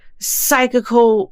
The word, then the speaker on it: psychical: We will talk about poltergeists, parakeetses, psychical research. Okay, that was an written alliteration because the P is silent.